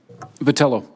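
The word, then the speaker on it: Vitiello: being said I think mr. Vitali oh that you would agree ever had pronounced your name correctly patella patella thank you I think you would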